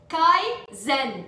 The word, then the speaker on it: Kaizen: Yeah, Kaizen, Islam, it's 2 syllables.